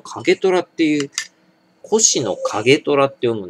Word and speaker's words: 越乃景虎: しかねぇこれ越乃景虎っていう越乃景虎って読むんですこれ景虎量に